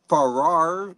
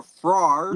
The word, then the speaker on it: Farrar: You know, I think it's called A Haunting at Farrar or Frar. You did it right. You said it right the first time.